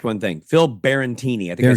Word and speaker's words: Barantini: Phil Barantini. I think I said his name wrong.